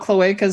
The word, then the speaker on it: cloaca: Tomorrow, we're going to talk about cloacas. All right, everybody. See you tomorrow. When I had my own Twitch channel, people talked about cloacas so much that we made it a banned